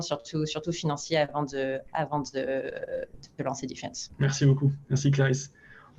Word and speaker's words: DFNS: Alors, c'est écrit DFNS, mais en fait, on a encrypté le mot Defense, donc ça se prononce Defense.